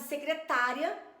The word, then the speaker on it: secretária: vai colocar algumas palavras que com assento tem uma pronúncia e sem assento tem outra pronúncia é o caso de secretária e secretaria então ela coloca a